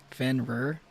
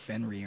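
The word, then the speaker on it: Fenrir: blues clu thing right Fen rer oh fenr okay I always pronounced it like fenry or something he stayed loyal which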